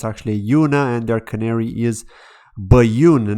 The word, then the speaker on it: Ajuna: bit about dot insights and then ajuna or a Yoona I keep saying that Juna but it's actually Yuna and their Canary is bayun Network right the